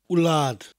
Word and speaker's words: wlad: My hen wlad fy'n nhadau yn annwyl I mi. My hen wlad. It sounds like you're saying lard, as in cooking fat, but with a slight W in front of it.